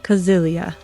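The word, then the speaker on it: Cäzilia: But it's Kazilia.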